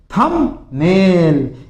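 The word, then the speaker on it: thumbnail: फिर देखो थंबनेल। इसमें भी बी साइलेंट रहता है। थंबनेल थंबनेल नहीं होता है। बी नहीं आएगा। ब नहीं बोलोगे। थंबनेल बोलोगे। यानी संक्षेप में लिखित।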